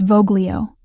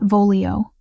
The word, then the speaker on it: Voglio: It's Voglio, not Volio. Soft G. Like this.